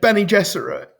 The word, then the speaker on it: Bene Gesserit: It's Bene Gesserit. Okay, good, good, good. All right. We're all on the same page. No, no, no. It's not No, it's definitely not a hard G.